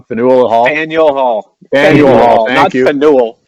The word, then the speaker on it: Faneuil Hall: I always pronounce it wrong. Faneuil Hall? Faneuil Hall.